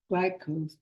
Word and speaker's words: glyphosate: And then we're not getting the glyphosate.